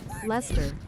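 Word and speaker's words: Leicester: I always saw it and thought lester like Ellie. Yeah, it's British so they pronounce it however they want. But I know what to be. I know it as least.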